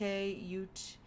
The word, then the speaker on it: Ute: The property lies on land traditionally inhabited by the Ute tribe, or UTE, so Ute, Ute, there's a few different pronunciations.